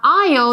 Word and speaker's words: aisle: Now, aisle, this word, be careful with that. The S is silent, so don't say aisle or asshole.